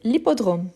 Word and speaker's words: hippodrome: Et oui, c'est l'hippodrome. Donc c'est un H muet.